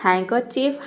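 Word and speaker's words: handkerchief: देखिए ये हो गया एच ए एंड डी यहां पे डी को हम प्रोनाउंस नहीं करेंगे हैन और के ई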